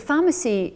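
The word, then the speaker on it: Farmacy: The pharmacy is a project associated, spun out from the Environmental Health Clinic. It's spelt F-A-R-M, pharmacy, so it's a farm.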